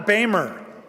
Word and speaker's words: Boehmer: John Boehmer. That's how you pronounce it.